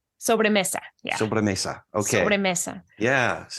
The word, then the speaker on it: sobremesa: And please correct me if I don't pronounce this. Sobremesa? Sobremesa.